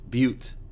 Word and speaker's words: butte: lot of places have that in the boot butte i think it's because i point out that this word is pronounced and it's probably quite an appropriate pronunciation